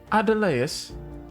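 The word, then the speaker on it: Adeleas: All right, we've got Adelius. Or Adelaus. Adelaus. Ah, good. Okay. Vandine. Rhymes with sardines.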